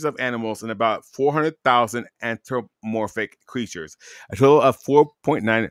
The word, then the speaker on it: anthropomorphic: that the number of anthromorphic creatures and species of wealth animals, you said it right before it was anthropomorphic.